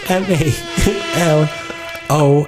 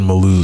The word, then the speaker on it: Malo: coin Bas and search m a l o Accent on the second o Mal Mal Mal how